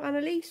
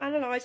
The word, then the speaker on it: Analyse: got a couple and that's soul Analise or Soul analy however you wish to pronounce it I like the Analise